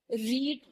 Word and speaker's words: read: किया फिर यहां पर रीड जो हमारा वर्ब है उसकी थर्ड फॉर्म हमने इस्तेमाल करी रेड इसकी स्पेलिंग सेम होती है सिर्फ इसकी प्रोनंसिएशन डिफरेंट होती है तो आई हैव रेड